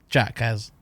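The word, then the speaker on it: Jacques: Jax. Jax. It is spelled weirdly. I'll give you Yeah, that. it It's is. GACQUES. Yeah. But it's Jax.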